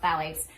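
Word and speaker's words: phthalates: It's spelled with a ph, but it's pronounced phalates.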